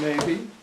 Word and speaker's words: Mabee: can you state your name and spell it for the camera my name is maybe and it's it's strange difficult to spell